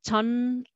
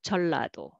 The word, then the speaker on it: 전라도: And next is 전라도, 전라도, but nobody pronounce that way. They will say 전라도, 전라도.